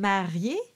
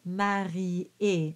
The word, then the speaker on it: marié: So in this case, it becomes three syllables. It could have been marié, but because of the way the notes are written, it's marié.